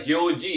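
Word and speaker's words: 行事: Cara bacanya itu adalah gyoji ya, jadi suginogyoji no junbi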